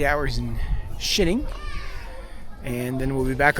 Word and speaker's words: Xining: Xining. Xining, China. This is halfway between Beijing and Lhasa, Tibet, where we're going. We just got off about a 24-hour train ride, and we've got 8 hours in Xining, and then we'll be back on another 24-hour